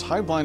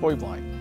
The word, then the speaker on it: Heublein: There's actually three pronunciations. Heublein is the family, Heublein is the business, and the actual correct Bavarian pronunciation is Heublein.